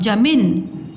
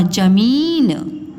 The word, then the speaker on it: जमीन: मात्रा मी और न जमन और यह ज म में मण की मात्रा मी और ना जमीन तो यह आपका राइट है जमीन ड़ा वड़ा और यह